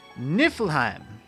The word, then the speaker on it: Niflheim: And while we're on the topic of me not being very good at different languages, Niflheim, it's Nordic, and that's how you pronounce it.